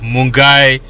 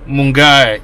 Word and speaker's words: Milngavie: that's the end of our work tour of mungai town village mungai it's spelt m-i-l-n-g-a-v-i mungai mungai watch like share subscribe